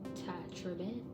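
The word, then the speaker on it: Tye Tribbett: Because that's how you actually pronounce his name. Ty Tribbett.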